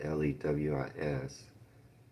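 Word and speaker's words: Louis: His name was spelled L E W I S originally, but he changed it to Louie, but pronounced it Lewis.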